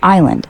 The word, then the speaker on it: island: Island, silent S, pronounced island.